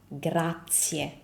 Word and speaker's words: grazie: And we pronounce it as grazie, grazie. So remember how I told you for buongiorno, the vowels are the pillars of Italian pronunciation and we never ever skip a vowel?